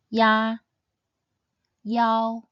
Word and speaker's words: ia: Ya, yao, yang, ye, and yan.